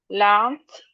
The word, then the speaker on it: laughed: Enough laughed. Laughed because of the gh.